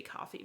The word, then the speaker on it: Ko-fi: And I know it's supposed to be coffee, but I swear it's spelled Ko-Fi.